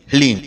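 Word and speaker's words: ह्लीं: इसमें हा, ला और बड़ी ई की मात्रा और अंक की बिंदी, ह्लीम।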